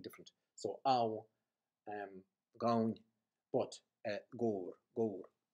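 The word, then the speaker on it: gabhar: G-A-B-H-A-R, which is pronounced as it's meant to be tapped off. Gore, where the A-B-H vowel has become O, short vowel, gore.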